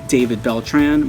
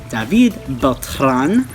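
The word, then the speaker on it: Beltrán: I was saying David Beltran, but apparently it is David Beltran. So, and I did the little R roll, David Beltran. So that is my birth name. Thank you for teaching me the pronunciation of that because I was pronouncing it the American way.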